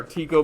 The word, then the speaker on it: Tycho: his predecessor guy named tycho brahe or tico brahe depending on who you ask to pronounce it came up with